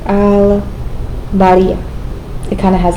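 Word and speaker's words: البارئ: sure it's something like al-bariya. It kind of has like an at the end. Al-bariya. Again, because it's a moon letter, we're using ba, we're using our lips to pronounce bari.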